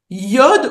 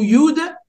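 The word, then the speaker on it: יוד: Donc, on peut prononcer ces consonnes-là de 2 manières. Yod ou Yud, Yud, He, Vav, He.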